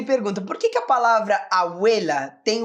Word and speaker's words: abuela: Seguinte, porque a sílaba tônica da palavra abuela não é no começo, né? Nós não dizemos abuela, e sim abuela, abuela.